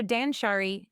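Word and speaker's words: 断捨離: Habit number seven, Dansshari. It's pronounced dansshari.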